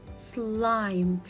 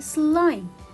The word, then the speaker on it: slime: If I don't have letter E, I will read it slim, as in just like this word, slim. But when I have letter E, it will be silent letter, and at the same time it affects the pronunciation of the word, so it makes the vowel longer. So it will be slime.